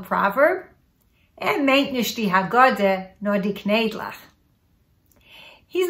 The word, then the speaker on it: haggadah: And haggadah is pronounced di haggadah. Di haggadah.